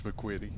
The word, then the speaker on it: McQuitty: Looks like 2 T's to you, don't it? Yeah, it's McQuitty. Okay. It's got to be. I don't know any other way to pronounce it with 2 T's like that.